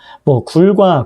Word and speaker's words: 굴: 그래서 이런 것들이 있고 그다음에 또 넘겨보면 굴과 굴이 있다 이렇게 했을 때 굴 자 다시 올라가서요. 자, 굴과 있고 짧게 발음하는 굴일 때 길게 발음하는 굴은 동굴을 얘기하는 거고 그 다음에 짧게 발음하는 굴은 먹는 굴 있죠.